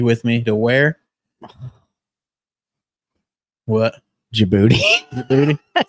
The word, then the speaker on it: Djibouti: Djibouti. Why is there a D in it, though? Isn't it Djibouti? The D is silent.